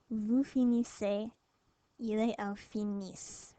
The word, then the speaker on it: finissent: Nous finissons, vous finissez, il et elle finissent. Remember, not pronouncing the ENT, so you just pronounce the S's. Finissent.